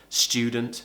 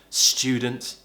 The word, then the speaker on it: student: it's not that and the most common way is a chat sound it's easier you'll sound British so who cares tune student Shh student okay YouTube YouTube next now